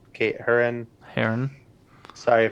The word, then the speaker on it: Herron: Kate Herron. Kate Herron. Heron. Sorry. I would assume Heron because that's how the bird is spelled, or pronounced.